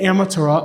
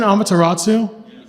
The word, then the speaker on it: Amaterasu: get on to that isn't it amateur isn't Amaterasu yes I've been pronouncing it wrong Point Okay so I